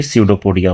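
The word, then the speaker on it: pseudopodia: यहां पर P silent है। तो ये सडोपोडिया हो गया।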